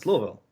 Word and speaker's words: Louisville: no no I'm saying how do you pronounce it Louisville or Louisville oh it's the first one Louisville Louisville okay it's kind